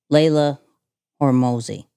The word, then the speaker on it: Layla Hormozi: And Layla Hormozi.